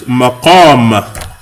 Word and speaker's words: مقام: The word that you're thinking of, I think, is maqam. Maqam. Qaf. Maqam. Say it, maqam. No, qaf. It's a heavy letter. Qaf, not cat.